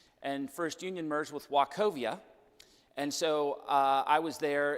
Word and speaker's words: Wachovia: Some people called it walk all over you, but it was actually pronounced Wachovia.